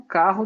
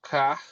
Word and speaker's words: Kach: no comecinho dos anos 90 e vandalizando o carro do Isaac rabinho que seria assassinado um pouquinho